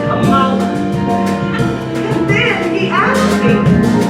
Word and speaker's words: Kamala: Yes, pronounced Kamala.